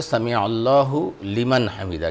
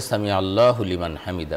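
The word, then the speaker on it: سمع الله لمن حمده: এ ধরনের কিছু আলোচনা আসলে প্রকৃত মানে সঠিক উচ্চারণটা কি হবে আসলে সামি আল্লাহু লিমান হামিদা কিন্তু একসাথে বললে সামি আল্লাহু লিমান হামিদা শব্দটা এরকম হবে একসাথে বললে ওরকমই হবে কোন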